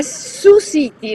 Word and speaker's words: Sioux City: Siamo a Sioux City, lo pronunciano così qua, Sioux City sarebbe scritto, in Iowa.